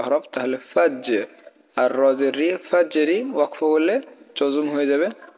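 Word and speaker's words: الفجر: জিম কিন্তু কলকলা হরফ তাহলে ফাজ আর রজের ফাজেরি ওয়াকফ করলে জজম হয়ে যাবে শুধু হরফের উচ্চারণ হবে ফাজর ঠিক আছে সালামুন হিয়া হাত্তা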